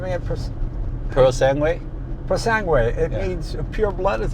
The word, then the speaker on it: Purosangue: Purosangue.